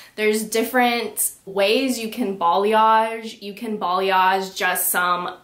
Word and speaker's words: balayage: hair color i still see trending is the balayage yes that's how you say it so balayage